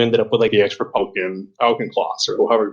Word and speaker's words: Auchincloss: And then you ended up with the ex-Republican Auchincloss, or however you pronounce his name. And it seems like the same people. What's that? I believe it's Auchincloss. Auchincloss, my mistake.